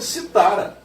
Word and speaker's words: citara: A pronúncia disso aqui só pode dizer citara. Porque se fosse oxítona, teria o acento gráfico.